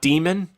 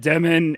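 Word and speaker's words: Demin: And his last name's not Demon. I said Demen. And then I think someone on Yahoo that's from or someone on YouTube that's from overseas kept saying I'm pronouncing the N wrong. I still say Demen.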